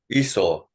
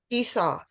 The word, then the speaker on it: Esau: Esau. Esau.